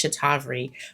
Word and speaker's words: Cetaphil: It's Cetaphil, but I can't say inositol.